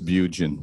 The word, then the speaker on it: Beguin: It's Beguin, even though it's spelled Beguin for me in French. Okay. It was French long ago and then moved to Southern Alberta and became Beguin. Yeah.